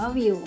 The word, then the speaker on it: Viu: ที่ วิว เท่า นั้น วิว อ่าน ว่า วิว รัก รัก ของ เธอ